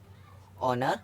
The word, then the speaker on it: honour: जैसे ऑनर, HONOUR, तो एच आ गया है। ओ से पहले एच है, तो ओ से पहले एच आ गया है, तो इसको पढ़ेंगे ऑनर। इसी तरह इसको पढ़ेंगे ऑनेस्ट और।